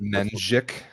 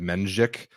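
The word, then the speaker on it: Mędrzyk: we pronounce that one menik menik yeah that's like the the E with the little tail is a weird letter kind of ends up sounding like menic uh Polish people let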